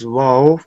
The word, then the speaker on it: واو: جی، واو pronounced as wow, pronounce wow by making lips round.